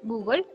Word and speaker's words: Google: En español y en inglés decimos Google con la sílaba, perdón, la sílaba final que suena como gol, Google, ¿sí? Para referirnos al buscador más grande de internet. Esta sílaba final es pronunciada por nuestros amigos franceses como gueule, quizás porque pues muchas